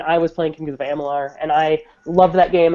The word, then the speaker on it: Amalur: I always say it wrong. Amular. Amalur, whatever.